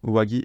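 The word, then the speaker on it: 上着: À noter que, ici, dans uwagi et shitagi, en fait, on fait une liaison. C'est pour ça qu'il se prononce gi.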